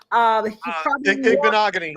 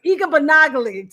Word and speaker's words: Igbinoghene: I can't even pronounce his name. Igbinoghene. Oh, Noah. Igbinoghene.